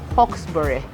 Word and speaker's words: Hawkesbury: You have to say it like that, Hawkesbury. I know a pastor somewhere who couldn't get it right.